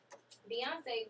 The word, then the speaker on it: Beyonce: Beyonce, because of her vocal ability, her stage presence, her work ethic.